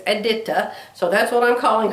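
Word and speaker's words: Edyta: And yes, her name is Aditta. I heard her say it. I saw her on a video showing how to do her butterflies. And she says her name is Eda.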